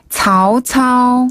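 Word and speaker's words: 曹操: 먼저 조조는 차오차오. 차오차오.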